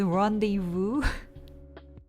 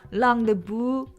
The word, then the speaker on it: rendezvous: Why is rendezvous pronounced as rendezvous? Hong. It's not even like rendezvous, but it's rendezvous, right? And then you ignore the last S at the end.